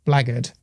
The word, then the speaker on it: blackguard: The word is pronounced blackguard, but is properly spelled blackguard.